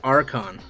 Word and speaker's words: Archon: Okay, so it looks like it's pronounced Archon. Like StarCraft, I guess.